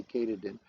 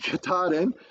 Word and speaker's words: Katahdin: I can never say it right. I say Katahdin, but Katahdin. And it is actually the